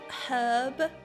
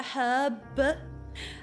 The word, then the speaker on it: herb: Do you not hear her pronounce a hard H in herb? Yeah, look. Okay, us Brits pronounce all of our letters. We drink some, but we pronounce them all.